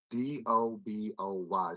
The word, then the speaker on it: DoBoy: Doboy. So it's actually spelled like Duboy, but it's DO capital BOY.